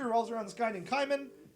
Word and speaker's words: Kaiman: The plot basically revolves around this guy named Kaiman, or Cayman. It's probably supposed to be Cayman, but it's spelled K-A-I, which I think is Kaiman.